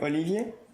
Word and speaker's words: Olivier: Because rather than me trying to pronounce French names. Okay, so I'm Cécile. And I'm Olivier.